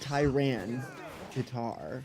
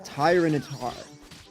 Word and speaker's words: Tyranitar: Like, it's not Tyran guitar. It's tyrant, right? It's using shift gear three times in a row. I'm so screwed. It's Tyranitar. Tyranitar, not Tyranitar. It's Tyranitar. Like Tyrant. Yeah, Tyranitar. It's It feels weirder, but it's The rhythm is kind of nice. Tyrronitar. Lugia. Polo. It's not Tyrantitar. It's It's Lugia. It's not Tyrantar because there's no T before.